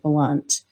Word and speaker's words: Blount: is known as the blunt family bombing ooh or blount blunt blount uh we had some people that lived in our community whose last name was spelled like this and they pronounced it blunt so if it's wrong